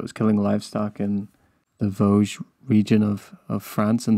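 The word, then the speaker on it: Gévaudan: actually just say that we're pronouncing it really really badly I looked up how to pronounce it oh how do you how do you pronounce it I think it's like Voz Vogue Don't say Vasquez anymore it's Vogue but please go on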